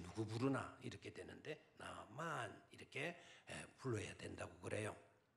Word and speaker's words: 나아만: 물론 우리는 나만 이렇게 하면 이제 우리 어감으로 들리지만 원래의 발음은 나만 이렇게 불러야 나아만이 네라고 대답을 한다면 우리 나아만 이렇게 부르면은 저 누구 부르나 이렇게 되는데 나아만 이렇게 불러야 된다고 그래요.